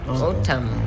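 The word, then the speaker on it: N'Tam: It's spelled N''TAM. Otam.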